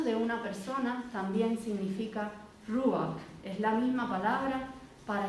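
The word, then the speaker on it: רוח: que la palabra espíritu en hebreo significa o no significa se pronuncia rúa y no sólo significa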